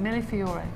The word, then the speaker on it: Millefiori: How do you pronounce it? Millefiori.